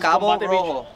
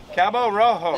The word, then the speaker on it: Cabo Rojo: Cabo Rojo. Cabo Rojo.